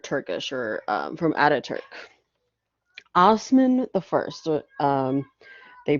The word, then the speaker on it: Osman: what we considered turkish or um from ataturk osman the first um they pronounced othman rules from 1299 to 1326 and this is